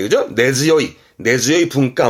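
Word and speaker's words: 根強い: 전통 문화라 그가 뿌리깊은 전통문 할 때 그죠 네즈 요이 네즈 요이 분가 번 쓰겠죠 요건 웃깁니다 봐봐요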